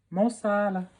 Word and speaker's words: Mo Salah: Mo Salah.